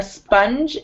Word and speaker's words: sponge: A sponge is sponge. Like this. Sponge. Sponge. Good. That was perfect. So it's a J. It sounds like a J at the end.